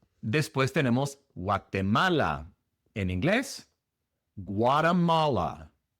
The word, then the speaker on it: Guatemala: La primera diferencia es que la G en inglés es mucho más grave, mucho más pronunciada. No es gua, gua gua como en español, sino gua. Gua es una g, más dura. G.